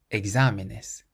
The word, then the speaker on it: exámenes: This next word means exams, and it has an accent over the A, so that's where we place our stress. Exámenes, exámenes.